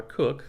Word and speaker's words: Koch: an ad if i cook and by the way it's koch call me what you want don't call me broke but it's pronounced cook and they were hiring